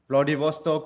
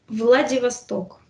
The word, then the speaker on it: Vladivostok: different two continents one side is near japan bloody vostok or whatever bloody hostile right how do you pronounce vladivostok vladivostok wow and on the other side most core